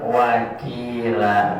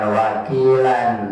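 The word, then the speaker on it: وَكِيلًا: Ya artinya maqadi'i, lahnya itu termasuk mad'aridus sukun, walaupun ada tanwin karena sudah wakaf tanda berhenti, dibacanya cukup wakila, bukan wakilan ya, wakila ya.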